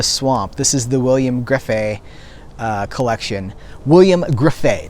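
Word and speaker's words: Grefé: this is the william griffey collection william griffey that's her graffay cause it rhymes with like it rhymes with buffet that's how he says it william griffey uh the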